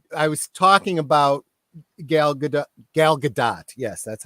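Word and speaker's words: Gal Gadot: and we were I was talking about gal galgadot yes that's how she pronounces it um how she uh you know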